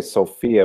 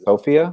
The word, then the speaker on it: Sofia: pronounce is it so we would say Sofia but it's afiyah yeah it's Sofia I said it wrong